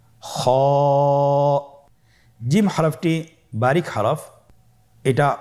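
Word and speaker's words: خ: খ হরফটির মাখরাজ হলো কণ্ঠনালীর শেষ ভাগ হতে উচ্চারণ করতে হয়, কণ্ঠনালীর শেষ ভাগ। আপনারা আমার সাথে বলুন খ, আবার বলুন খ।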